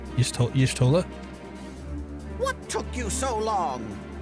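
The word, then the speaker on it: Y'shtola: It's supposed to be like Yish, not Yash. Yishtola.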